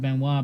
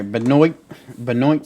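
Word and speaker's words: Benoît: We got, I believe I'll pronounce it Benoit because of Chris Benoit, Saint Denis or Dennis, and it's God of War.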